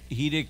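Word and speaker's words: חיריק: Now, the Hidik is never pronounced, the I in Hebrew is never pronounced like the I in English. It's pronounced like the I in machine.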